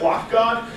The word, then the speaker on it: lock.gd: GD um I pronounce it lock God uh you can pronounce it however you like uh it's